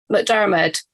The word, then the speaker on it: McDermott: McDermott. So it's said McDermott. So it's said differently to how it's spelled.